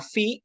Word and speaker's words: phi: la atraviesa hacia abajo se llama phi y su sonido es el de nuestra F la siguiente letra es